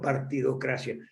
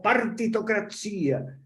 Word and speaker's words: partitocracia: recordarme utilizan el término partidocracia pero si fue el término que usábamos olín partido la democracia no es democracia se dice con acento en ley en italiano no sino partitocracia y son cosas de